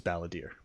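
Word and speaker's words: Balladeer: would you believe me it is ballader because of ballad my bad I've been saying it wrong guys um um I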